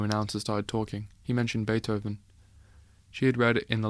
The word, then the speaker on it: Beethoven: He mentioned Beethoven. She had read in the library about that musician. His name was pronounced with an A and spelled with a double E.